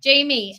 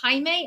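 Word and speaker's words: Jaime: I I always wonder was it Hae or Jamie because you're your the name your name is spelled the Spanish spelling of Jamie which is Hae uh so I always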